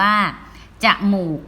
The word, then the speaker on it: จมูก: นี้ จมูก นะ คะ จอ อาจ จะ หอ มอ อุ กอ งมู อีก นะ คะ อ่าน แบบ มี ของ นำ หรือ จะ เป็น จะ หมอ ปู ก็ จมูก ก็ ได้ นะ คะ อ้า ต่อ ไป